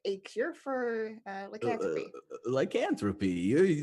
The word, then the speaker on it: lycanthropy: This looks like a cure for lycanthropy. Lycanthropy. That's the word you're trying to say. Lycanthropy. Lycanthropy. Yeah. You're adding too many syllables.